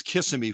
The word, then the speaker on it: Kissimmee: you know that and that's why i pronounced it incorrectly just to benefit you we all know it's kissimmee florida we all know that